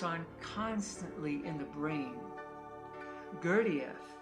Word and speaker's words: Gurdjieff: Gurdjieff, or as people mispronounce his name, Gurdjieff, taught that most people have about 50 eyes inside them.